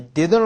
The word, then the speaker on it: didn't: 이렇게 하실 필요 없고 T는 I didn't like to 그러니까 묵음입니다. 묵음 거의 묵음 안 들립니다. I didn't like to be Romeo.